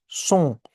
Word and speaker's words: ce sont: सो इट से एस ओ एन T becomes सोंग।